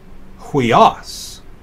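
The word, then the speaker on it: υἱός: It's pronounced as the UI in sweet, so huios.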